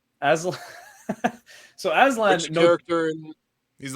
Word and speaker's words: Aslan: how the fuck do you pronounce his name? Aslan? Aslam. Aslan.